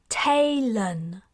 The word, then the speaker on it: Talon: she touched her chest my name is Talon taylon she repeated emphasizing the syllables can you say that